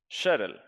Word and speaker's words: Sheril: Sheril. I'm okay, I'm pronouncing she as she, it's she.